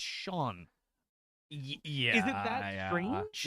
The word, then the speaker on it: Sean: Is it Scene? I'm like, it's Sean.